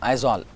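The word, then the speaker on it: Aizawl: Mizoram, Aizol. So A-I-Z-A-W-L, the pronunciation is Aizol, I-Z-O-L. How do you pronounce the word I-Z-O-L? Aizol. So you have to pronounce it as Aizol.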